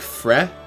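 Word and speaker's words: Frei: Pronounce more like fre. The EI means you extend the eh sound. Closer sounding to fray.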